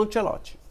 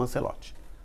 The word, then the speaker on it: Ancelotti: Então, veja só, não sei nem se ele teria tido a oportunidade como auxiliar técnico do Carlo Ancelot, certo? Ou Ancelote, como você preferir, tá?